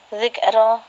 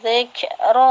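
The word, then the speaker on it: ذكرا: Bacanya jangan zikro gitu, jangan dihentak. Innama tunziru man ittaba'a dzikra wa khashiya dzikro jangan gitu coba. Kalau bilangnya dzikro ada hamzah mati. Kalau dzikro ada hamati di sini.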